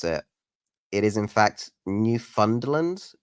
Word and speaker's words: Newfoundland: It is in fact Newfoundland, like, but it's Newfoundland. Newfoundland. You say Newfoundland. You don't say, uh, instead of found, you're saying fun, basically.